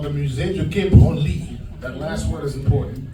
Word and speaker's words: Branly: the Musée du Quai Branly. That last word is important. It's pronounced Branly, not Branly. Some people pronounce it Branly. If you pronounce it Branly, it becomes the museum for touching yourself.